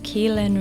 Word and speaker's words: Caoilfhionn: name yeah sure so my name is Ken it's um it's much easier to say than it looks I guess um yeah